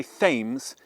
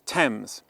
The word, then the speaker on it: Thames: Don't say ths, it's tempames.